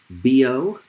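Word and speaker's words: Biot: these this result in the united states we pronounce those names b.o and savar so it's often called the bo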